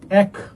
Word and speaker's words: এক: এ বিবৃত উচ্চারিত হয়। যেমন এক উচ্চারণেই বলতেছি আমরা। এক 11 13 ঠিক আছে?